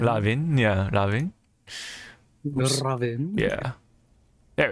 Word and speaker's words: Raven: Let's start off with Raven. Let's play the trailer. His name is pronounced Ravin. Lavin, yeah, Lavin.